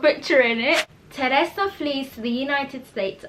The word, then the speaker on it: Teresa: Teresa flees to the United States after her drug peddling boyfriend is murdered by a cartel boss.